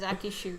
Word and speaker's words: ShuAke: The pairing is Akishu, guys. That's how you pronounce it.